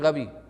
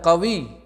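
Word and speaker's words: غبي: আন্তা কবি। কাফকে গাইনের উচ্চারণ করে, সেটা নয় কিন্তু, এটা হচ্ছে গাইন দিয়ে, আইনের পরে যে অক্ষর সেটা দিয়ে।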